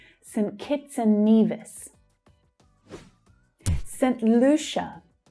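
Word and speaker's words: Saint Lucia: St. Lucia. St. Lucia. The stress on the first syllable is ooh. Then CIA is pronounced as sh. Lucia.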